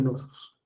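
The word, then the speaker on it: Knossos: palacio más grande el Palacio de Nosos. Se escribe así, Genosos. En algunos libros sale con K, Canosos.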